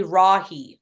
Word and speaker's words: Rahe: Rahe, but you spell it phonetically Rahe, R-A-H-E. It's German, don't ask. Just Rahe.